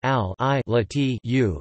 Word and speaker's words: Al-Lat: Al-Lat, also spelled Al-Latu, Al-Lat, Al-Lat, and Al-Lat Arabic, Al-Lat pronounced Al-I-Lat-U, is a name and title used to refer